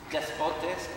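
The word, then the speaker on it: δεσπότης: Despotes, D-E-S-P-O-T-E-S.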